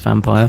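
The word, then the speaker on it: Vampyr: what does it mean it's pronounced vampire but to steady boys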